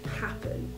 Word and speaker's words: Happn: Now the app I'm going to be reviewing is called Happn, which is spelled H-A-P-P-N without the E.